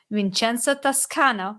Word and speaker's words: Vincenzo Toscano: And today I have Vincenzo Toscano, right? Did I pronounce it correctly?